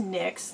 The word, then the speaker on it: NYX: This is NYX, or NYX as some people call it, but it's actually pronounced NYX. That's what she wanted it pronounced.